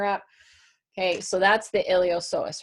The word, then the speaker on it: iliopsoas: so here is the iliopsoas you don't pronounce the P okay so the iliopsoas then is going to